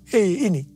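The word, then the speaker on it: ה: yang terbentuk pada huruf He ini merupakan gambaran celah atau jendela mulut Tuhan yang menghembuskan rohnya. Perhatikan juga cara pelafalan huruf ini. Pun seperti orang yang menghembuskan nafasnya. Hei.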